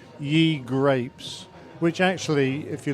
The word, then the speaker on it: Ye: is called Ye Grapes, which actually if you look back into old English, Ye actually means the and it's pronounced the same.